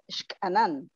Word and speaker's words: Xcanan: X, because in Maya, X has the sound of SH. So okay. It's Xcanan.